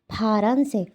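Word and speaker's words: 파란색: সেক ফারানসে ফারান সে তো ফা এই ফা শব্দটা আসলে বাংলা কোন শব্দ আই মিন বাংলা কোন অক্ষর নেই তো আমি এজন্য এখানে একটা হ বসিয়েছি যাতে আপনারা বুঝতে পারেন এটার উচ্চারণ ফা হবে ফারানসেক ফারানসেক এরপরটা হচ্ছে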